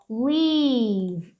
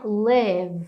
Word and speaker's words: leave: Isso aqui, ó, é leave. Exagera nesse I, tá? Não é live.